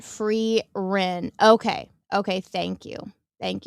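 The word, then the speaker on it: Frieren: Her name is pronounced Free Rin.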